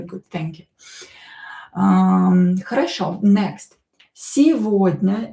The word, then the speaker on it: сегодня: Сегодня, this G is pronounced as V here in this word. Сегодня, don't forget about E, which is not stressed, so pronounce it as E.